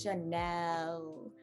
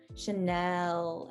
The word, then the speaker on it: Chanel: like an a and a little bit more like a very airy e there's a lot of air in that e it goes chanel chanel and that e just spills out uh do you want